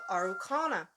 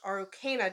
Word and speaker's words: Araucana: the araucana or pronounced arokena depending on where you are the pronunciation eight pronunciation difference I can't even talk today but the pronunciation difference is kind of regional both pronunciations are acceptable so if someone's saying